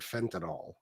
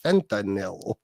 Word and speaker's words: fentanyl: more call it fentol it's fentel it's the way it's spelled but this song I